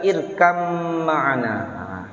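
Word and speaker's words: ٱرْكَب مَّعَنَا: juga mutaqaribain ya termasuk ketika kita membaca irkab mana ya kita membaca irkab mana tapi dibaca irkam mana di surat pot itu ya jadi disitu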